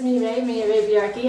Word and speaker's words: Mireille Villarqui: and her name is Miro my name is Mimi yaki I'm the first to admit that my name is very difficult to pronounce and spell most people when they hear